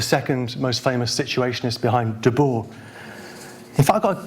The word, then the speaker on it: Debord: How do you pronounce the name d-e-b-o-r-d, de board?" I said "Debord." "All right, Debord. Okay, good."